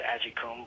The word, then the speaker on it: Aikum: Uh, I know my last name's a little hard to pronounce. I know Armen tried to pronounce it a couple of times, but yeah, it's Aikum. But anyways, um, I just